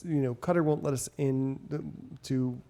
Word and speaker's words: Qatar: Yeah, it's technically supposed to be pronounced Qatar. Q-A-T-A-R. Like cooter.